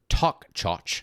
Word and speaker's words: Toiteach: Toy teach, pronounced talk chotch.